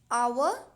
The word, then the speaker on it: hour: I am not pronouncing it as hour, honest or hair. I am saying honest, hour, heir.